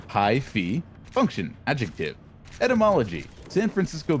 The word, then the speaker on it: hyphy: Hyphy, pronunciation hi-fi, function, adjective.